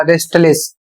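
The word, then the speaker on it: restless: और इसे पढ़ा जाएगा रेस्टलिस। यहां पर भी यहां पर एस का उच्चारण किया जाएगा और टी का उच्चारण किया जाएगा।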